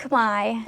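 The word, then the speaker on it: Khmer: language do they speak they speak Kamai okay and I spelled like k h m e r so you might not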